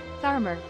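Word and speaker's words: Tharmr: of Odin, the Warden of the Dark, Barnabas, Thamur. Hey Google, how do you pronounce this? Tharmer.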